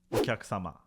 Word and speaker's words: お客様: Customer in Japanese is お客様.